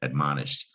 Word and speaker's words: admonished: a past tense verb admonished but you don't hear shed it looks like shed at the end you don't hear the syllable shed you don't hear the